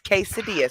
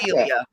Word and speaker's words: quesadilla: It's quesadilla, sweetheart. It's quesadilla. You had it right the But first it's time. spelled with a Q. Like you Not would think of quasa. quasadilla.